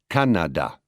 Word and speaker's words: Canada: The French, for instance, tend towards equal stress in a word. They pronounce Canada, Canada, as opposed to our Canada.